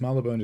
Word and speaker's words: Marylebone: Uberk says Marylebone is one of those station names I don't know how to pronounce.